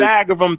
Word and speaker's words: Pythagorean: Pythagorean theorem.